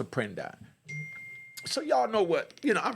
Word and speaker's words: Apprendi: But us blacks call it Apprendi, you know? Y'all remember the Apprendi case, but it's pronounced Apprendi.